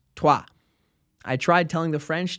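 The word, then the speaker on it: toi: If you guessed troy's, you should be correct, but you aren't because it's French and it's pronounced tua.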